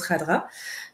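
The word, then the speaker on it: Khadra: sous le nom Yasmina ça sécrit cadra mais ça se prononce Radra euh et j' j'en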